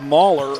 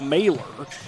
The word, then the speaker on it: Mailer: My apologies, I had said Mahler earlier in the broadcast. I've been told that it's actually pronounced Mailer, as Kunert misses off the glass, and back the other way comes Team Deming.